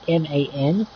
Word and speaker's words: MAN: You have a MAN. Is how it's spelled and how it's pronounced, which is a log transport with a crane on the back of it.